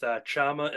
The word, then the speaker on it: Chama: Which is what I was going to get to, and assuming I'm pronouncing it right, with Chama and Lana, is that correct?